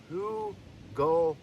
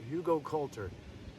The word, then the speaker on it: Hugelkultur: I finally learned the pronunciation. Hugelkultur. So Hugelkultur.